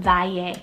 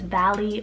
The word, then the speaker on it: Valle: Next name on the list is the name Valle, or in English you could probably pronounce it as Valley or Valle, spelled V-A-L-L-E.